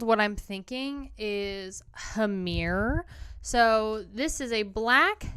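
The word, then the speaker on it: Hammr: what I'm thinking is hamir so this is a black speed metal punk band and again I'm pronouncing it as hamir but it's spelled h MMR and this is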